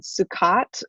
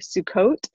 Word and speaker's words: Sukkot: 2nd through 9th was this it's also called sukkat or sukkot i think is how you pronounce it and it is a festival that